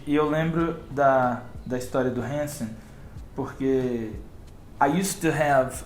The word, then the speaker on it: Hanson: So you said that you like Hanson. Is that how you pronounce that? Hanson? Hanson. I used to say handsome. Hanson.